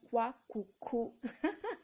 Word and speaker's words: kouakoukou: It is called kwakoukou.